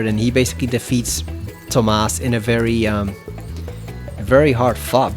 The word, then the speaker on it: Tomas: By the way, the dragon that was here is Tomas, not Thomas. People make that error sometimes, but it's Tomas, because you see there's no H in the name.